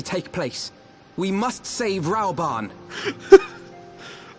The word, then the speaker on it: Rauban: We must save Rauban. That's like 3 ways of pronouncing it there. Yeah, everyone else called him Roban, though.